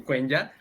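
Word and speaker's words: Quenya: Alabado sea Tolkien en Cuenya o en Kenya, depende la pronunciación que le quieras dar.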